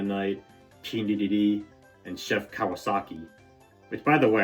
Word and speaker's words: Kawasaki: Which, by the way, I think I said his name wrong in the first Kirby Air Riders direct review. Like I said, Kowalski, as if I'm talking about the penguin from Madagascar.